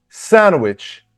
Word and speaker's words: sandwich: For example, look, sandwich, sandwich. The stress is on the first syllable.